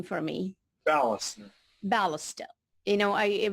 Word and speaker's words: Balster: Chellam and marina and today's our very special guests we have pronounce your last name for me ballast ballast Oh you know I would the way